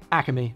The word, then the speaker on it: Acme: Even though there's no extra A in between Ack and me, a lot of people from New Jersey will just say Acme.